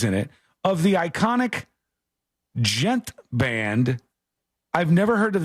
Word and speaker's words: djent: Rock I've heard of all the different genres is silent yeah gent gent rock or gent yeah what does that